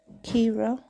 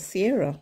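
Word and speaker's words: Ciara: I was given, and I thought that was Sierra, but she said no, it's pronounced Kira, but it's spelled as Sierra.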